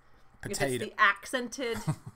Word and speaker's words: potato: So if there's a T, even if a T is between two vowel sounds, potato. If it's the accented syllable, then it is still a T.